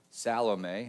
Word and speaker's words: Salome: Salome is how it's pronounced.